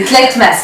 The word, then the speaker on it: Tlaitmasse: qui est TMAs salut donc ça se prononce en à l'américaine non pas à l'américaine oui c'est tetmas mon prénom voà c'est un prénom verbère donc le surnom c'est